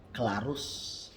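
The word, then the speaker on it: clarus: Tetapi ada yang harus diperhatikan ialah satu, C, huruf C diucapkan seperti K dalam ketika kita bisa misalnya bilang kabar. Itu contoh Klarus, Kolo, Keras, Lak. Itu dia bunyi seperti K. Klarus, Kolo, Keras, Lak. Tulisannya C tapi dibunyikan K.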